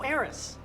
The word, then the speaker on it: Eris: In fact, you know what might really help us sell it is, oh, Eris. You don't pronounce the H, and that's not what Eris means.